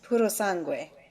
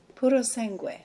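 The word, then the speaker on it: Purosangue: It's puro sangue, which means pure blood in Italian. Puro sangue. Try it. Puro sangue. Puro sangue.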